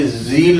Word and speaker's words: zeal: इसको Z पढ़ना है आपने. ये zeal है. ये jealous वाला zeal नहीं है. ये Z वाला zeal है.